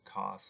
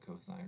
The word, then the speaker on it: cosine: Do not say sin, cos, or tan. They're pronounced sine, cosine, or tangent.